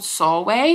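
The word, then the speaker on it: Csorwe: this girl who's called, it rhymes with doorway, okay. The pronunciation guide in here is really hard. She's called, I want to say she's called Sorwe.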